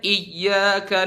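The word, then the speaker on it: إِيَّاكَ: na'budu wa iyaka nasta bacanya iyyaka na'budu wa iyyaka nasta perjelas naber di situ contoh di huruf ww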